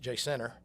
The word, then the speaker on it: Jacinto: him moving around in Jacinto and and I was taught that it's pronounced Jay Center in the same way that my papa would talk about a pimento cheese sandwich.